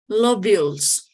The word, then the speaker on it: lobules: Is lobulus? How do you pronounce that? Is lobulus? Lobulis? Lobules.